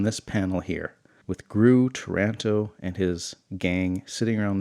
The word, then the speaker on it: Taranto: find there or who finds him there but toronto hey look at that I pronounced his name right: "Taranto!"